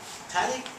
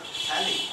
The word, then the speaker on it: phthalic: understand that the word phthalic is derived from naphtha. It is a crude oil byproduct. Naphtha spelling you should know. NaPHTAT. Phthalic is dropout Na, not P. So it is PTHLIC. P is silent.